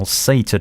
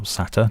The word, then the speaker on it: SATA: Currently, I store all my jobs on an external SATA drive, or SATA, depends how you pronounce it, connected via a USB docking station.